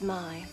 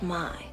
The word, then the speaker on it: May: My name is Mai. It's spelled May, but it's pronounced Mai.